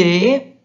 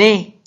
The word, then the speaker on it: est: Elle est. Nous sommes. Vous êtes. Ils sont. Elles sont. Attention mes élèves que et, le ES et le EST se prononcent et.